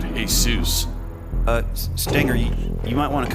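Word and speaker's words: Jesús: Walter's first name Derek middle name Jesus I think that pronounce it hey soos uh you might want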